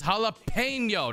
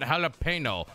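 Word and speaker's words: jalapeño: help you and three it's jalapeno not jalapeno for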